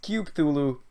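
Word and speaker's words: Cthulhu: actually told me um how I should pronounce that word so it's cuthulu so eyes of thulu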